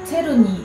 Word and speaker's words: チェルニー: んですけれどもドイツ語だったかなよくわかんないんですけどチェルニーって本当は発音するみたいなんですねなので